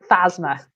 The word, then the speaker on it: Phasma: What have you been spelled with an F? I thought it was F-A-Z-M-A. Phasma.